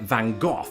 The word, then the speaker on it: Van Gogh: tend to go for Van Gogh like that so it's a very guttural throaty sound. How do you do it? Van Gogh Do you keep it simple?